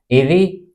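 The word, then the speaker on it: eyrie: अपना नेस्ट बनाते हैं उस नेस्ट को पर्टिकुलर री या एरी बोलते हैं स्पेलिंग आप ध्यान दीजिएगा ई वाई आर आईई या एई आर आई से री बोलते हैं अगला वर्ड है हमारा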